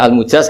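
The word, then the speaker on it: المجاز: Saya tidak perlu nulis sanad lagi karena sanad itu untuk al-mujaz, bacanya al-mujaz karena dari fi'il madhi ajaza.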